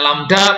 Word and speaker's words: lambda: Ini bacanya lambda, panjang gelombang.